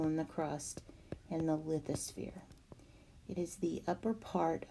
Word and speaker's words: lithosphere: And again, some people pronounce that lithosphere, but I was taught lithosphere. So I'm using the schwa sound in there to make that sound.